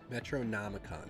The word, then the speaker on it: Metronomicon: Metronomicon, that's how you say it.